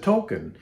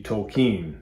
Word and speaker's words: Tolkien: They all said Tolkien. However, Tolkien himself wanted it to be Tolkien. That was the correct pronunciation of his name.